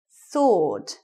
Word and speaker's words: sword: Sword. Silent W.